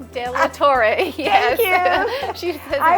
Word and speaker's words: De La Torre: I'd say her last name but I always pronounce it wrong de Tor yes thank you she I always say Del Toro I don't know Toro bull right and she